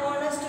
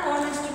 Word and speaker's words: honest: An orange, an egg, an our, an honest person. Here the letter is H, but H is silent here. So we say an our, an honest person.